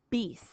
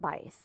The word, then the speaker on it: bis: Root number 3, by or bis. Depending on which language you're in, it might also be pronounced bice.